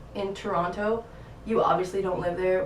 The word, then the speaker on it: Toronto: Some people will say Toronto, so the second T is silent, and some people will say Toronto. And the people that are from Toronto say Toronto.